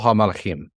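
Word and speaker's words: הַמַּלְאָכִים: Kol hamalachim is how you would say it. Right. Right. Kol hamalachim. So there would be no break between the kol and the ha.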